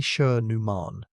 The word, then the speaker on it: Schoenemann: Its case was published in the journal Scientific Reports in 2017 by a team including Bridget Schoenemann, pronounced roughly Scher-Neumann, and the veteran trilobite specialist Ewan Clarkson.